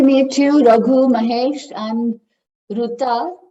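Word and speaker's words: Rita: I'm Ruta. My name is spelled R-I-T-A, but It's only people who know Marathi will know that.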